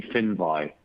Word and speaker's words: Finvi: not great for an editor so it's actually fin by I got corrected on that so I just